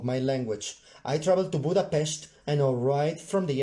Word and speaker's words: Budapest: I traveled to Budapest, that's how you pronounce it, Google, that's how you pronounce it, people, Budapest.